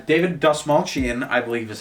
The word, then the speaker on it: David Dastmalchian: But it's David Dastmalchian, I believe is how you pronounce his name.